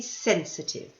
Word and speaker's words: sensitive: it is to be sensitive now don't forget the pronunciation this one the pronunciation is at the beginning listen sensitive here is the next